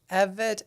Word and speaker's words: Evette: How do you pronounce your last name? Everett. There you go. Evet.